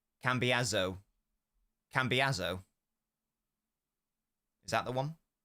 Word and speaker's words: Cambiasso: One S in Italian is pronounced like a Z. Cambiasso.